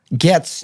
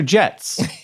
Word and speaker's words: Getz: jilberto or Gilberto jilberto so is it GS or jets it's definitely gets St get so gets with a G but jilberto with